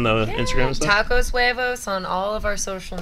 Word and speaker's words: huevos: The H is silent.